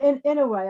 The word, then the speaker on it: Inouye: I think you pronounce it Inouye.